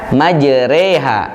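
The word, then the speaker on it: مجراها: Bacaannya adalah majroha. Bacaan aslinya dibaca majreha menjadi e.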